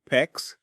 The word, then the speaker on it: PEX: Whether you're working with copper or PEX, PEX rhymes with flex, the cut end of that pipe needs to be a clean 90°.